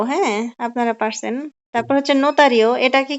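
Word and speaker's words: notario: কি হবে মেট্রো হ্যাঁ আপনারা পারছেন তারপর হচ্ছে নোতারিও এটাকে কি বলে জানেন অনেকে বলে লটারি তো লটারি না এটা হবে নোতারিয়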